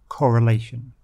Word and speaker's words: correlation: positive significant strong correlation pronunciation of course is on the penultimate the second to last syllable that's a rule we